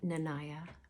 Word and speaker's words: Nanaya: I am Nanaya, rhymes with papaya, from Love and Freedom Life Strategies.